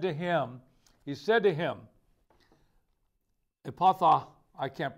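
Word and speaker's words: Ephphatha: And looking up to heaven, he sighed and said to him, Epatha, I can't pronounce this word, E-P-H-P-H-A-T-H-A, Epatha.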